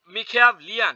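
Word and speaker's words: Machiavellian: ওকে, 17 নম্বরে মেখিয়া, মেখিয়াভলিয়ান, এটা উচ্চারণ হচ্ছে গিয়ে মিখিয়াভলিয়ান, মিখিয়াভলিয়ান ক্যারেক্টার ইজ, মেখিয়াভলিয়ান অর্থ হচ্ছে গিয়ে, মেখিয়াভলিয়ান অর্থ হচ্ছে কৌশলী, চতুর, তাহলে মেখিয়াভলিয়ান মেখিয়াভলিয়ান ক্যারেক্টার ইজ, মেখিয়াভলিয়ান ক্যারেক্টার কি?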